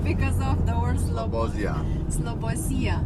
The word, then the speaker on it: Slobozia: Slobozia. Slobozia.